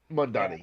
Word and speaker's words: Mamdani: Mamdani, Mamdani, yes.